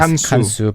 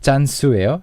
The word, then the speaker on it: 짠수: And I think from the email, she wrote CANSU, so that's why you read her name as 간수. But in the introduction, she says 제 이름은 짠수예요. So I guess that's the way 짠수. yeah, it's pronounced.